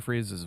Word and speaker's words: Fries: what is Mr Free's it's freezes not fries it's not Victor Fries cuz it's spelled fries yeah it's spelled fries